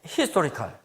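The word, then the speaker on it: historical: 그래도 여러분 이게 히스토리컬, 첫 번째 음절에 강세가 있습니다.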